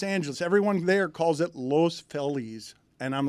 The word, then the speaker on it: Los Feliz: Everyone there calls it Los Feliz. And I'm like, it's Los Feliz.